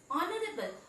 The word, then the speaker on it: honorable: Honorable, again it begins with H, but H is silent there, and we pronounce, the correct pronunciation is honorable, which is producing a vowel sound O.